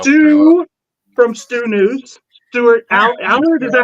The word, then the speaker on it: Allard: Stuart Allard. Is that how I pronounce it? Allard? Stuart Allard, yes.